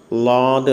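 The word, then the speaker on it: ض: ഉച്ചാരണം ലാദ് എന്നാണ്. ഡി എച്ച് എ എ ഡി ലോദ് ലോദ്. നാക്കിൻ്റെ ഏതെങ്കിലും ഒരരിക് അണപ്പല്ലുകളോട് ചേർത്തിട്ടാണ് ഇത് പറയേണ്ടത്. ലോദ് ലോദ്.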